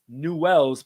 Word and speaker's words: Newell's: childhood team, Newell's, and that is spelled Newells, but pronounced Newell's.